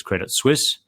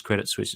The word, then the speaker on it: Credit Suisse: this but it was I was saying it was credit Swiss even though I know it's it's spelled s-u-i-s-e and sui sui thank you um and and there's me saying no it's Credit Suisse it's Credit Suisse I know what I'm talking about you guys shut up